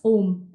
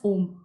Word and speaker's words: olm: Om. OLM, pronounced as Om. Yes, Om.